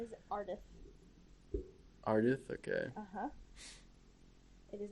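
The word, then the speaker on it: Ardeth: they never say his name his name is arith arith okay uhhuh it is not just a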